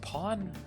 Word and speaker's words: pan: pan today put on oh it's pronounced Pawn oh that makes sense